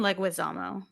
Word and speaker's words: Leguizamo: the time, but you probably know how to pronounce every actor correctly. So did I say Well, John Leguizamo correctly? it's John Leguizamo.